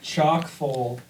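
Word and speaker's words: chock-full: It's chalk full, but it's spelled ch H O C K.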